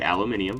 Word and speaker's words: aluminium: Some people say aluminium. I think that's its proper pronunciation, if I'm being honest. We call it aluminum here in the States.